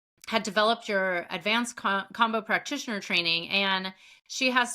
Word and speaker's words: Kambo: I've always pronounced it combo. I know a lot of people pronounce it Kambo. I've heard both. Some is just the accent, whatever.